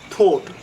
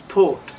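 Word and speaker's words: thought: করেছিলাম, that's what I থট। থট না, থট, থট। হ্যাঁ, আমরা বলি থ্যাংক ইউ, জিভ পিছে থাকে, একটু জিভ বার করে থ্যাংক ইউ। থট, টি জাতীয় ওয়ার্ডকে আপনাকে এইভাবে উচ্চারণ করতে হবে, দ্যাটস হোয়াট আই থট, আমি এরকমই ভেবেছিলাম।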